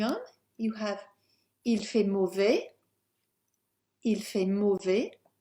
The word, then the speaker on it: mauvais: Moving on, you have il fait mauvais, it's bad weather. We'll just highlight that S there because not pronounced.